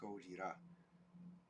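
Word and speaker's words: ゴジラ: to a Japanese person you don't call this a Godzilla movie this is goeta Goa SP spelled with um Katakana characters goira and um let's see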